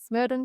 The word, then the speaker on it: Smerdon: this one, make sure you use the hashtag smid on toast or smurd on toast with no a if you want the correct correct pronunciation.